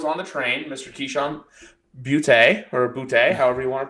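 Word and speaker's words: Boutte: Keyshawn Butte, or Butte, however you want to pronounce it. Well, he says booty, which I think is absolutely insane, but yeah, I'm not going that route.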